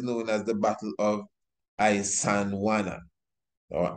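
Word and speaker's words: Isandlwana: as the Battle of Isandhlwana or Isandhlwana. Now, Isandhlwana, Isandl, but the L is silent, Wana.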